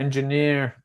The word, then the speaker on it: engineer: of all Jamie um I found three engineer yeah and on the last three here yeah it you're correct it's uh so three stress there so and words what's